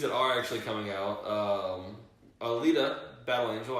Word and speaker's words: Alita: And movies that are actually coming out, Alita Battle Angel, I actually said it right this time, I didn't say Attila, announced that on January